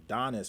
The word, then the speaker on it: Donnis: i mispronounced your name i called you dennis and their name is donnis so donnis